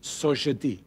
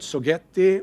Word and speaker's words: Sogeti: And since we are a French company, it is pronounced Société. It is not Sogetti or Sogeti or, well, any other Sogeti. Pick. Sogeti is not, no, that's right. It's not so shitty either.